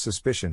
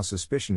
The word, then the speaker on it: suspicion: is in this case the accent is in the second syllable corresponding to spish low are other ways to pronounce it now let's see how suspicion is used in real